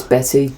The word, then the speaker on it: Bette: book by Betty Davis we have Betty right Betty it's spelled bet yeah with an e but it's Betty but Bette Midler is